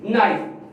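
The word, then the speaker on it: knife: इसी तरह हमारे पास साइलेंट वर्ड के, नाइफ। अब नाइफ के अंदर आप जानते हैं कौन सा साइलेंट आ रहा है, EB और के भी।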